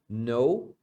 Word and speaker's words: know: conhece Do you know know é o verbo conhecer esse verbo você não pronuncia o k Então é só no é a mesma pronúncia de não no that é aquele